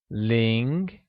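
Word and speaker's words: 零: quick grammar tip for you Ling pronounced an amid rising tone has a lot of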